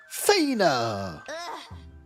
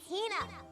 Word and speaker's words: Hina: Fina, you keep saying it wrong. It's Hina.